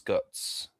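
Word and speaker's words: Godts: Yeah, Mika Got his name is M I K A G O D T S.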